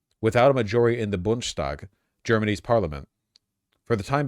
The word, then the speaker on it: Bundestag: It's pronounced Bundestag.